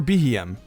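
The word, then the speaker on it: Beheeyem: aliens same thing for BM when its name is pronounced it's supposed to sound like bem or bugy Monster another nickname for aliens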